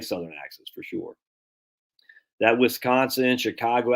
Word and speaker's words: Wisconsin: so whisk conon not Wisconsin now that's not how we talk in America we say Wisconsin so try that to